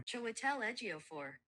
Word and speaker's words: Chiwetel Ejiofor: Um but the film stars Chiwetel Ejiofor. I'm trying my best to pronounce that, so I'm going to have Google pronounce it the proper way for you. Chiwetel Ejiofor.